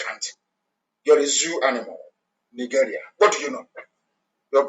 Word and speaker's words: Nigeria: As long as Nigeria, that's the proper pronunciation, not Nigeria is the phoneme pronunciation.